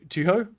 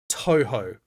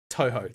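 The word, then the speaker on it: Touhou: Uh, just like to Tuho. Oh. Oh god, I've forgotten how to pronounce that. It's Toho. Toho. That's correct.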